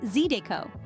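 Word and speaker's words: zydeco: flavorful dishes and finally zido pronounced zido is a genre of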